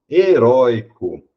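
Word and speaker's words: heroico: Aqui eu tenho minha penúltima sílaba forte, heróico.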